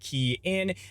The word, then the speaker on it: Kian: Hey everyone, it's Kian for the Rideshare Guy, pronounced Kian, and I'm actually out on the field today.